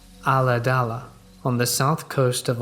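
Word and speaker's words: Ulladulla: We lived in a small rural town pronounced Aladala on the south coast of Australia.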